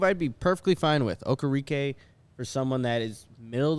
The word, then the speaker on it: Okereke: Okereke? Bobby Okereke. Okereke.